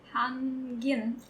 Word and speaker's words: hangin: So there's no distinct G sound.